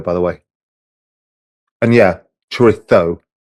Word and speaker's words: chorizo: And yeah, chorizo, the Spanish pronunciation. If you're elsewhere, you would say chorizo, but you've got to prove that you understand how Madrileños speak, the people of Madrid. You have to lisp it, but it's fucking good anyway.